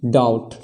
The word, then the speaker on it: doubt: भी क्या है कि ये जो बी है वो टी से पहले आ रहा है, मतलब कि इसमें भी बी का उच्चारण नहीं होगा, बी साइलेंट है। तो इसका उच्चारण क्या हो जाएगा, डाउट, डाउट, है ना।